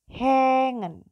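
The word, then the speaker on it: hängen: Tapi dalam bahasa Jerman bacanya bukan hangen lagi, tapi hengen. Hengen. Jadi dia bacanya E yang agak ke atas gitu ya, E.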